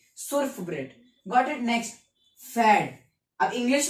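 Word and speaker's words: Pferd: अब पी से है तो कैसे प्रोनाउंस करो, तो पी यहाँ पर हमने साइलेंट कर दिया है। और एफ से साउंड है FERD, फैड। और फैड मतलब क्या आता है, हॉर्स, घोड़ा।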